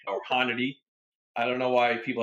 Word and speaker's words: Hornady: I wrote a small piece for NRA Family, five names or 5 industry names that are always mispronounced. That was one of them. Hornaday, right? Or Hornady or Honnety.